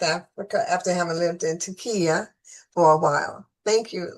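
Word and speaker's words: Türkiye: So it's Turkiye. They changed the name, but most people know it as Turkey. Okay. So she's now lived back in South Africa after having lived in Turkiye for a while.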